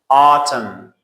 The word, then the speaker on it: autumn: When there is M and after M there is N. So N is silent.